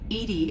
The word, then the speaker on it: EDI: are you named edie edie is the phonetic pronunciation of edi that is where are